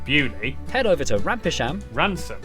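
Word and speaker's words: Beaulieu: Starting in Biaulio, Bewley, head over to Rampisham, Ransom, then down to What?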